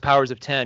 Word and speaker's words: Powers of X: powers of 10 and it actually is pronounced powers of 10 even though it says powers of X it's two it's it's